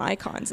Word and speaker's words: Eikon: other big uh icons because we've decided to call them icons in this one yeah SP so that they can have iconic uh attacks I'm like oh I see what you did there yeah it's spelled EI k n and just when I